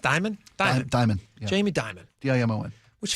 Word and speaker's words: Dimon: Is it pronounced Dimon? Dimon.